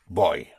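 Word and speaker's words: voy: The V pronounced with your lips like a like a B.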